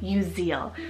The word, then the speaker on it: Uziel: so I have the name uziel spell u-z-i-e-l you Zeal now this one means Jehovah is my strength